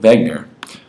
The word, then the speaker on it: Wegener: A young German scientist named Alfred Wegener, in German the W's are pronounced like V's, made a hypothesis of continental drift.